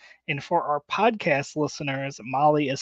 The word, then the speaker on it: Mahle: for more details and for our podcast listeners Molly is spelled m ahle e yes well let's talk